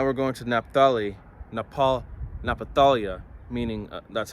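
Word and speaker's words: Naphtali: Reuben okay now we're going to naphthali Nepal napatalia meaning that's how you say it in Hebrew means my wrestling all right and um Genesis 49 verse 21.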